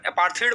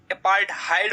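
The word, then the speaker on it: apartheid: System जो थी ना, अपार्थीड बोलो या फिर अपार्थहाइड बोलो यार, कुछ लोग इसको अपार्थीड बोलते हैं, कुछ लोग इसको अपार्थहाइड बोलते हैं, ठीक है। तो जो भी तुम्हें प्रोनाउंसिएशन सही लगता है यार वो बोलो तुम, ठीक है। मैं अपार्थीड बोलूंगा।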